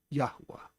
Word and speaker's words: Yahuwah: And we proved tonight his name is pronounced Yahuwah.